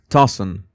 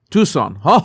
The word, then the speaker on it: Tucson: And also this Gina Milan, we Why haven't flyers of Nancy Guthrie been posted all throughout Tossen Tucson? Tucson Tucson. Now I Now I know how to pronounce that.